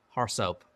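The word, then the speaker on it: RSoP: policy we often compare an AR SOP report pronounced horse up to what you expect to be applied to that computer there are a lot of ways to get at our soap report we'll use the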